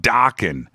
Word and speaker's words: Dokken: How about Dokken? It rhymes with rockin'.